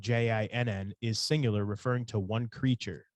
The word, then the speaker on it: jinni: So sometimes jinn, spelled Jinn, is singular, referring to one creature. Sometimes, more correctly, according to the Arabic, it is plural. There's a grammatically correct masculine singular form, which is jinni or jinni, spelled Jinni or Jinnee, and its